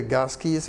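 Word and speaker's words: GASCI: Of course, you will set your, you can go to the gas keys, and we say gas key with a hard C rather than a soft one.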